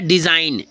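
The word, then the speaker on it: design: N campaign ठीक है अ next क्या है डिजाइन डी ई एस आई जी एन डिजाइन क्या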